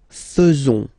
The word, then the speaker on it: faisons: So it's quite strange because French people tend to pronounce faisons.